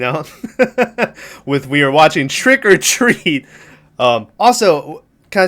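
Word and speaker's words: Trick 'r Treat: say america for years i always pronounce that movie trick r treat um because i thought that was how it's pronounced but it is just trick or treat it's not trick or treat it's just trick or treat so i've been pronouncing that movie wrong all along i watched it uh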